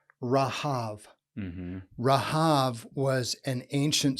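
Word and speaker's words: רהב: ancient Near Eastern world, this Hebrew word, which is pronounced short A's, Rahav.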